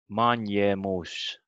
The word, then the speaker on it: manjemus: new, and it's this manjemus, they ask here how manjemus is pronounced. Can you say this word, Risten? Manjemus. Manjemus. It's like an N word and a J.